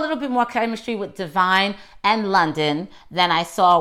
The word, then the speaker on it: Devine: more chemistry with divine I was saying her name wrong all last week I kept saying Devon but it's not my fault black people try to get too creative with their names Devon's name is spelled de vie why no I'm sorry Devine this is why I keep getting my stuff Divine's name is spelled de v YN when I see it I see Devon not to vine because I graduated as an